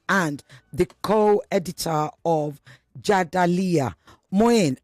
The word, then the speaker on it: Mouin: Moyen, am I pronouncing your name right? You're pronouncing everything right.